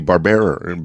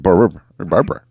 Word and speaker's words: Barbera: I said Barbera, Barbara, to make sure, because I remember Hanna-Barbera. They were pretty big about pronouncing it that way.